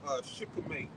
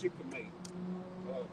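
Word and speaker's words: shikimate: You know, he got to name everything, but they termed it the Shikhamate pathway, and it's spelled S-H-I-K. I think it's A-M-A-T-E. It's Shikhamate pathway, and that's important pathway.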